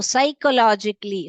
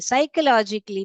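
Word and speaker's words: psychologically: रूप से दूसरा आपको साइकोलॉजिकली साइकोलॉजिकली में जो पी है वो साइलेंट है तो एस वाई सई स लिखो ख लॉजिकली मैंने बताया था सी एच जो है तीन प्रकार के साउंड करता है एक तो च एक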